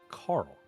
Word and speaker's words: Carell: hulking Goliath by the name of Carell pronounced Carl it prefers to be